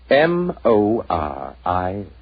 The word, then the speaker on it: Moriarty: People will either misspell it or mispronounce it. I'm afraid I'll have to begin calling it the way it looks. M-O-R-I-A-R-T-Y.